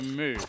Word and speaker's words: mou: Okay, so we're gonna go Moo, because I was pronouncing Moo's name as Mao before because there's a U there, so I was like Mao.